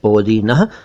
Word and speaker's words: पोदीना: ये बता दूं कि ये शब्द ठीक नहीं है, सही शब्द है पोदीना। वैसे उर्दू में पोदीना लिखा जाता है, क्योंकि फारसी में यही इसका रूप है, पोदीना, लेकिन पोदीना कह दें तो भी चलेगा।